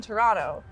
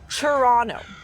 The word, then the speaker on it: Toronto: and then he said, say it like a true Torontonian. It's Toronto. So Toronto. really, it's C-H Toronto. U-R-R, C-H. like ch, Toronto. No T at the end. Toronto. C-H-U-R-R-O-N-O. Toronto. Toronto. Toronto. Toronto. Toronto. So that's how you say it.